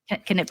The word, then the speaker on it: Knippenberg: I think they pronounce the K, but we wouldn't pronounce K. It's like KNI. Oh, okay, yeah. Knippenberg.